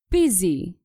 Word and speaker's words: busy: people tend to get confused by the way it's written we pronounce this word busy let's see an example